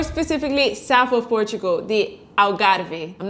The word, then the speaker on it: Algarve: south of Portugal the alar I'm not going to say Algarve because I speak Portuguese thank you very much how do you say in Portuguese Algarve alari alari alari but this place has